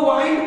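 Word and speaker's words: wind: तो दोस्तों वाइंड को यहां पर विंड नहीं पढ़ेंगे, क्योंकि के आई एन डी का उच्चारण किंड नहीं काइंड हम लोग पढ़ते हैं।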